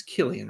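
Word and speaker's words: Cillian: is swooning over Sicilian that's not how you say it's Killian right Killian Murphy uh he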